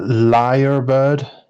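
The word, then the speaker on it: lyrebird: i mean I've already I'm seeing how you pronounce it uh liar bird I I would say that's right a liar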